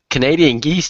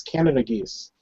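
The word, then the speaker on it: Canada goose: I've freaking seen them come through It's in not Canadian geese. It's Canada geese. Canadian. How do you say it? I say Canadian. Canadian. It's Canada geese, No, idiot. Canadian. They're not from Canada. So you don't call them Canadian.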